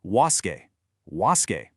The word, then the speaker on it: WASSCE: Okay, we are looking closely at the WCE English exam which is officially pronounced was.